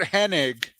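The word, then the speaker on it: Hennig: Sharp versus Mr Perfect Kurt henig which everyone pronounces Kurt Henning for for for some reason but yeah he he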